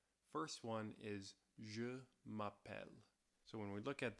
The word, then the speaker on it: m'appelle: at this you see there are two "L"s in this conjugation which is what gives you that elle sound at the end Je m'appelle Also, you see this